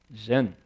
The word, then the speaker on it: Zen: right the Chan there that word in Japanese is pronounced what Zen CH in Chinese and